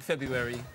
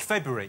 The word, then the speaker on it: February: I don't like February. You don't like February? No, because no one really knows how to say it. Do you say the R or not? It could go either way.